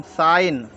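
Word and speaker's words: sign: एस आई जीी एन एस आईजी इसको पढ़ साइन डी एस आई जी एन डी एस I gene इसको पढ़ेंगे डिजाइन डिजाइन एच साइलेंट देख लेते हम एच साइलेंट को देख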